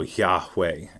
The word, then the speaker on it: Yahweh: sound of breathing so the breathe in sounds like yah and then the exhale sounds like way so yah way um so the idea